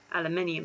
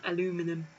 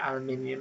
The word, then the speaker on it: aluminium: aluminium magnesium or titanium aluminium not aluminum yes we're not american so the song goes i pronounce it aluminium because there's an eye next to the unm day three what feature